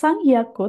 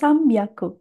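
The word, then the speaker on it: 三百: Hati-hati ya, bukan sangyaku tapi sambiaku.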